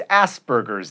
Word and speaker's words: Asperger's: And it's Asperger's. There is no B in there.